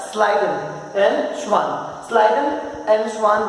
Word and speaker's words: Schleiden: Schleiden, the spelling is little complicated, but it's pronounced like Schleiden and Schwann.